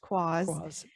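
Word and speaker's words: quoz: q-u-o-z but it's pronounced quas and it means an absurd person or thing okay and i think this is a cool word because it reminds me a little bit of spazz okay how fun would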